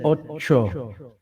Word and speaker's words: ocho: Eight is in Spanish is really said ocho, but you guys say otso, O-T-S-O, right? Ocho. Otso, Ocho.